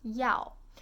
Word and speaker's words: 要: It's pronounced as yao.